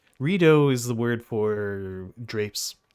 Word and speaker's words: Rideau: The name of the canal is the French word for drapes or curtains, which is pronounced rideau, the rideau canal. But Americans would often pronounce it the Rideau Canal, which was extremely amusing to me at all times.